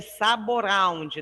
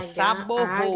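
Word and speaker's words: Sabouraud: Porque se escreve saboround, não é isso? Saboround. Mas se pronuncia saborro.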